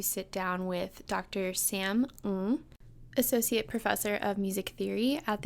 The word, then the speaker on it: Ng: Cantonese is a Southern Chinese dialect, and it is a tonal dialect, and Ng is actually more accurately pronounced as Ng.